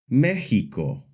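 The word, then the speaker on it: México: the more common ks sound like in the word examin, the s sound like in the word, and the soft h sound like in the word Mexico.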